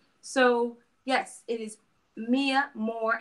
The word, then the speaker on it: Mhoor: yet but it is pronounced more the same way the North African Moors or the names I'm